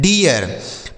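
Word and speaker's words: deer: Double E और ई ए का उच्चारण हम ई कर देंगे, ठीक है, जब इसके बगल में आर हो।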